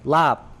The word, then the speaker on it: larb: that way is because if you say it with like a English accent like lop like like that's that's